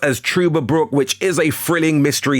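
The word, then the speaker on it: Trüberbrook: Next on the list, and I'm sure it is pronounced as Truberbrook, which is a thrilling mystery sci-fi adventure game.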